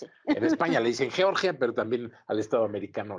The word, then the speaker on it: Georgia: Creo que se pronuncia Georgia porque Georgia es el estado de Estados Unidos, pero según nos dicen algunos expertos políticos, se dice Georgia.